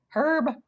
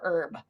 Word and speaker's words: herb: So is it herb or herb? So fun fact, in Great Britain, the H is pronounced, and in the United States, it's pronounced herb.